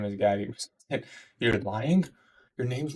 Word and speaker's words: Gatie: No, it's pronounced Gatie, bro.